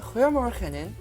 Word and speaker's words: Goedemorgen: 우리나라의 히읗 발음을 목으로 긁어서 내는 소리와 비슷하죠.